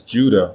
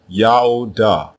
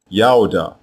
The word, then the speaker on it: Judah: Both of these versions are pronounced the same way, Yaodah, Yaodah, and it means Yahweh is praised.